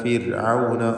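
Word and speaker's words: فِرْعَوْنَ: ഇദ്ഹബ ഇലാ ഫിർഔന, ഫിർഔന റായിന് തർക്കീഖാണ്. സുക്കൂനും തൊട്ടുമുമ്പിൽ സ്ഥിരപ്പെട്ട് കസ്റുമുണ്ട് എന്ന കാരണത്താൽ ഫിർഔന ഇന്നഹു തഗാ, നൂൻ മുശദ്ദദയെ മണിക്കുക.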